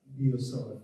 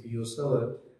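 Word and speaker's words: Biot–Savart: analogous to that one in magnetostatic is the Biot-Savart law. It is pronounced as Biot-Savart. If you go to university physics, then it has been pronounced there as well. It is to be pronounced as Biot-Savart, not as Biot-Savart.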